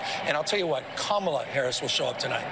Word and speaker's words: Kamala: that prosecutorial mindset and I'll tell you what kamla Harris will show up tonight not Cala I think this is also about dignity this